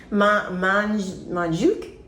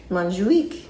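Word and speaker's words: Montjuïc: Do you want to try to pronounce that? Montjuic? That's pretty close, yeah. So I saw it was Montjuic. Montjuic.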